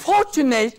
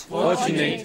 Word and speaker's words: fortunate: Okay, then words which are ending in ate. It is third syllable from the end that is to be stressed. Say complicate, complicate, complicate, complicate. Agitate. Communicate. Fortunate. Fortunate.